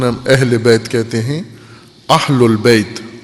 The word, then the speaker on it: اہل البیت: اہل البیت، اہل البیت ہوتا ہے، اہل بیت نہیں ہوتا. اہل پنجابی ہے، اہل عربی ہے. عموماً ہم عربی پنجابی میں تلفظ کرتے ہیں اہل بیت. اہل البیت زبر ہے اس کے اوپر.